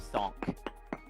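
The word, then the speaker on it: Sankh: One of my friends made his character who is a half-orc barbarian druid named Sonk. The bingo is spelled like S-A-N-K-H Okay.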